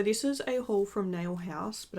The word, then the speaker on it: Nail Hause: is a haul from nail house but I think it's like pronounced like nail horse like nail house you know like Burger House which if you don't